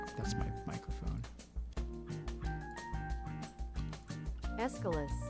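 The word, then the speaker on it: Aeschylus: Escalus. Escalus. Okay, I was way I was way way off.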